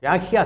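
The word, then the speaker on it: Yahya: യൂജിൻസിൽ വെച്ചിട്ട് യാഹി Sinwar യാഹിയ Sinwar എന്നാണ് ശരിക്കുള്ള പേര് യാഹിയ എന്നാണ് ഉച്ചാരണം യാഹിയ സിൻവർ എന്നന് പറയുന്ന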